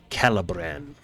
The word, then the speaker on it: Calabran: him how do you say his name again calibran calibran yep I love bran okay it's in